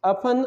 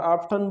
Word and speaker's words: often: Often or often, both the pronunciation are right.